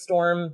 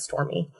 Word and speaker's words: Storme: looked it up and I was thinking it was storm but you know on the storm and I thought it was so clever but no that she they pronounce it stormy I was more I